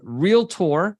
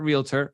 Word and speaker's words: realtor: is going to be being a real tour which is a per correct way to say it not realtor realtor and also from The